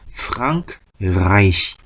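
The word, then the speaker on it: Frankreich: 프랑크죠 프랑크 프랑크 그다음에에 하고이가 또 보이네요 아이라고 읽어야 되겠네 프라입니다 프라이시 프랑크라 이히라 이제 우리말로 써 놨을 거야요 바람대로 책에서는 프랑크 라이시 프랑크 라이시 하면은 프랑스입니다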